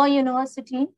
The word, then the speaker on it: university: Children, it's pronounced as a Y.